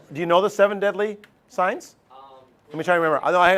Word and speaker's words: sine: uh how about sign it's pronounced sign Catholic friends don't even